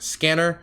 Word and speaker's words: SCNR: name was changed to s c at r pronounced scanner for several reasons there's